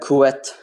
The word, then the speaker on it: Quetzalcoatl: your um name wrong it's uh kuet like it's q-u-e-t uh it's not the q top w-e-t yeah don't worry about